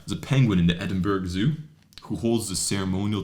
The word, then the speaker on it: Edinburgh: And you sounded extremely North American when you called it Edinburgh, I have to say. Oh, how do you say it? Edinburgh. There's no OU, it's Berg.